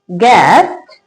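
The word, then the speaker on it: guest: जब किसी वर्ड में जी के बाद यू आए तो यू साइलेंट रहता है। जैसे कि गार्ड, गेस्ट, टंग।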